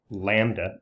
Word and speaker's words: lambda: that distance with the Greek character this is pronounced lambda LAN BDA lambda and the distance between successive